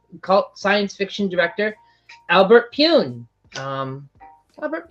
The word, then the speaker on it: Pyun: science fiction director Albert Pyun. Albert Pyun. If I'm pronouncing it correctly. I think that's how you pronounce it. Oh, you got it right. Lots of people pronounce it. We're Pyong. It's like Pyongyang?